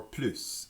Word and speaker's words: plus: When the plus comes in front of the de, you pronounce that little s.